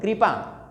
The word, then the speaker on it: कृपा: कृपा नहीं कहना है, री का उच्चारण करो। यहाँ पे पे के अंदर आ मिला हुआ है, आ का उच्चारण कर रहे हो, आ, तो इसका भी री उच्चारण करो, कृपा।